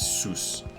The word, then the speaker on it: Soos: It was a lot harder S at the front because it was like just S, so it was Seuss.